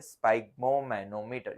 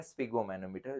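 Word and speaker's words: sphygmomanometer: Blood pressure को हम मेज़ करते हैं स्पाइग्मोमैनोमीटर या स्पिगोमैनोमीटर। जैसे आप प्रोनाउंस करो।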